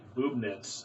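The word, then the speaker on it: Bubnitz: He wrote, not to be a nerd, but the last name is pronounced Boobnitz, and the nickname became boobs, spelled B-U-B-S.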